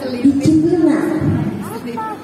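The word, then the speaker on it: disciplina: Ya, disiplin berasal dari bahasa Latin disiplina. Bacanya gitu. Bisa disiplina.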